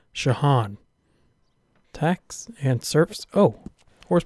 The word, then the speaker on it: Jean: I know that's not spelled like John. That's because it's pronounced Shahan.